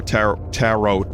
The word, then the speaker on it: tarot: There should be one more tarot. Tarot is in carrot. Rhymes with carrot.